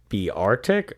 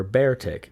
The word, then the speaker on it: Beartic: probably am okay uh trainers were unsure if its name should be pronounced be artic or bear tick it appeared several times throughout the anime each time being referred to as bear tig i'm sorry ty i'm